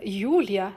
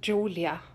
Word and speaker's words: Julia: let's make it and Julia who's from Holland she uh maybe I mispronounced that name as well we'll present the sauce Hollandaise hi Lisa I am Yulia not Julia I will show